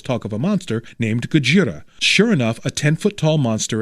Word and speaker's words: Gojira: Warning, I'm not going to mispronounce it Godzilla and pronounce it Gojira.